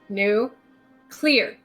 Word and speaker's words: nuclear: i'm gonna teach you how to say the word nuclear new nuclear no new clear new clear does that make you